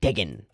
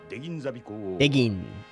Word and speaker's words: Degwin: I find this very interesting that we get this conflict between Sovereign Degwin, which the narrator pronounces like Degin, right? There's like a cut to it. Yeah, there it was. Degin.